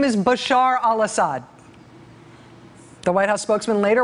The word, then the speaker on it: Bashar al-Assad: that ashad is doing ashad that's one of his attempts today to say Bashar al-assad that was one of his tries here's another try no